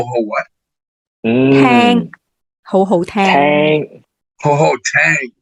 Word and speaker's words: 好好聽: Ho ho tang, not ting. It's tang.